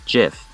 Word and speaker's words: GIF: Fun fact, its name is actually pronounced as GIF, to deliberately echo the American peanut butter brand.